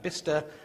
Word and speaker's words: Bicester: In England, we're very strange, so that Bicester becomes Bister, and Cirencester has its